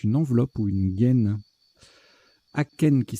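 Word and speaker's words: akène: Aken qui s'écrit A-K-E-N-E ou A-C-H-A-I-N-E ou A-C-H-E-N-E, avec un accent grave sur le E le cas échéant.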